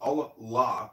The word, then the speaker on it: Allah: The God in Arabic will be Allah pronounced Allah or which is simply God with capital G.